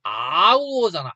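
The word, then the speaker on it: hour: 근데 발음 어떻게 돼? 이거 how월 이렇게 하니 우리가? 아니요. 아니잖아. 아우어잖아. 아우어. 모음 발음으로 시작한다고.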